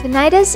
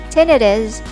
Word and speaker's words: tinnitus: both of your ears it can be pronounced as tinnitus or tinnitus both are accepted and correct although tinnitus is more commonly used psoriasis psoriasis is a